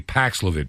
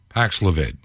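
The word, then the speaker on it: Paxlovid: wnbc TV and this has to do with the new Pfizer anti-viral drug for covid Pax levit think I'm pronouncing it correctly paxlevitt p-a-x l-o-v-i-d paxilavid and this story I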